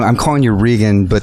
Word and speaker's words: Rigan: I'm calling you Rigan, but the real pronunciation is Rigan, right? Rigan Machado. Because in Brazil, the sound of R is the same sound here in America, H.